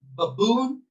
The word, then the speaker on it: baboon: There we have the tongue twister baboon, bamboo, baboon, bamboo, baboon, bamboo. So the word stress will be on the second syllable because it is louder.